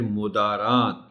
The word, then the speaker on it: مدارات: اب یہ لفظ خاطر مدارات، مدارات کی میم پر پیش ہے، لیکن میں نے دیکھا